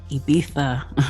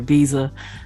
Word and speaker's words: Ibiza: And the Black Music Summit is heading to Ibiza, or Ibiza for some of us U.S. people, as we pronounce it.